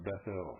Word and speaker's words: Bethel: That should be pronounced Bethel, folks.